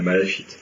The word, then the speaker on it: malachite: Écorché comme la malachite. Voilà, comme la malachite. Mais toi tu sais comment ça se prononce. Alors comment ça se prononce? Malachite. Malachite, oui, on prononce le CHK.